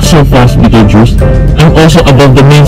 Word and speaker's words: Betelgeuse: It's pronounced as Betelgeuse.